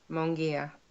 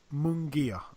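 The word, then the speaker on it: Munguía: his name again Mimi you're better than me munguia munguia okay Jamie munguia is he even Jamie well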